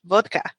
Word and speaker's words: vodka: whatever because it's it's supposedly in Russia it's pronounced vodka it's gotten to the